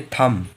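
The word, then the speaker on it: thumb: हम लोग पढ़ते हैं लेकिन यह के बाद में अगर बी ए रहा तो बी जो है वो हम लोगों का साइलेंट है तो 20 साइलेंट है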